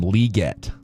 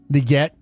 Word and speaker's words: Legette: By the way, I heard uh Stink in his playbyplay going calling him Legette. Leguette. They were both going leg. So there might have been a name pronunciation that we need to Okay. Legette. I I was leg I was always a leg guy.